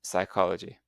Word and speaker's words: psychology: canite and physicology but in English we ignore the first letters and we just pronounce the main sounds in the word like night and psychology.